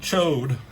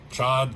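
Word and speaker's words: Ch'od: and Cho. Chad. Chad. How do you spell say his name? They said Cho in the animated series. I always thought it was Chad.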